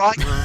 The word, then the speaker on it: Rickon: When she pronounces it Rickon, she's wrong.